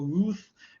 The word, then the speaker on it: Routh: Routh or Ruth but I think the pronunciation, as I've heard over the years, is Routh.